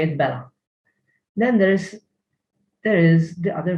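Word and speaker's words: bela': It has no particular pronunciation, that there is an ein in this form.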